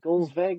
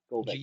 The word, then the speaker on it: Golveg: Is it Golsveg or Golveg? I can't remember how we pronounce Golveg. it. Golveg. Yeah, I was right.